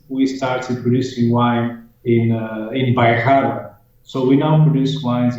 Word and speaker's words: Bairrada: So tell us the difference between Vino Verde and, I'm not pronouncing it correctly, but you just said it, Berada? Bairrada. Bairrada.